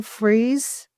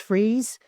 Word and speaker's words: Fries: Will Freeze, I think is how you say it. It's spelled Fries, but I think it's pronounced Freeze.